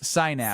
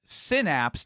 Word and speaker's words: synapse: Sinapse. Sinapse. Yeah. Not Whoa, whoa, whoa, whoa, whoa. This is controversy. Kelly on the car was talking text line. It's pronounced synapse, not sinapse.